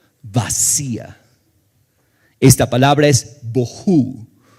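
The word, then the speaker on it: בֹהוּ: estaba sin orden y vacía esta palabra es bohu bohu así se pronuncia no le estoy diciendo que así se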